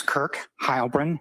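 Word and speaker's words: Kirk Heilbrun: My name is Kirk Hybrin. That's spelled K I R K and then H E I L B R U N.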